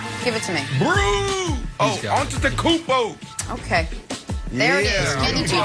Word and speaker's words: Antetokounmpo: Oh, Antetokounmpo.